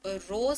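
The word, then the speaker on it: Roseau: तो रोज से हो जाएगी कैपिटल रूजो, ठीक है, इसकी भी जो प्रोनाउंसिएशन है वो है रूजो।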